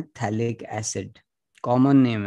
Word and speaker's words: phthalic: अब थैलिक acid बोलते हैं, PH उसमें PHTHALIC, थैलिक एसिड।